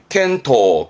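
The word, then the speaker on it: 健闘: 그럼 건투, 켄토, 건투를 빌어줘야죠. 켄토. 어두울 암자에 암투, 발음은 안토.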